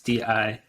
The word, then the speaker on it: Dijon: I really like called Dijon, I think is how you pronounce it. It's Dijon. And the music makes like the mustard, like the mustard, baby, but it's not mustard.